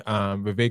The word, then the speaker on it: Vivek: Speaking of running for president, Vivek Ramaswamy, Vivek rhymes with cake, got a wake-up call when he invited the most racist woman in America, Ann Coulter, onto his podcast.